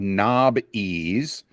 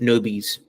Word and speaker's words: Knobbeez: Well, the original spelling was Nob-Ease. Knob. And everyone pronounced it Nobies.